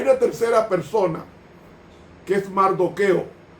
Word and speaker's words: Mardoqueo: Hay una tercera persona que es Mardoqueo, que se pronuncia Mordejai, que es primo de Esther y oficial benjamita del palacio en Susa.